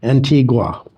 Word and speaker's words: Antigua: We visited Guatemala City, and we visited Antigua.